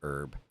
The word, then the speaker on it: herb: she's like, "No, it's herb." I was like, "Oh, okay." No, you weren't like, "Oh, okay." You were like, "No, the H is silent."